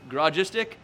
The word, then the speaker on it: Garagistic: kinds of crazy ones it's Gras gistic it's basically garage and it's stick together so garage mystic for